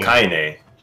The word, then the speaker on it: Kaine: A2 is just Robo Kane. Did I pronounce that right? Yeah. Kane. It's Kane, right? I think it's Kane. I'm pretty sure it's Kane. Kane. K-I-N-E. Oh, Kaine.